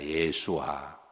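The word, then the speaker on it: ישוע: 히브리 말로는 따라서 하십니다 예수와 예수아라는 뜻이죠 예수와 예수와는 예수님이십니다 우리가 여러 번역을 번역을 번역을 통해서 우리가 이제 예수님이라고 예수라고 부르지만 이게 원래 히브리식 발음은 예수와입니다 그래서 성경에는 그 이름의 비밀이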